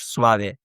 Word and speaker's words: suave: Whereas in Spanish, it will always be pronounced, right? So suave in Spanish, suave, right? You can see that E is pronounced, for example.